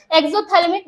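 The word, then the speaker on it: exophthalmic: एग्जोथैलेमिक बेटा ये एग्जोथैलेमिक है। पी साइलेंट है यहां पे।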